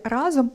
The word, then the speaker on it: разом: Усе класно, але в слові «рАзом» наголос падає на перший склад.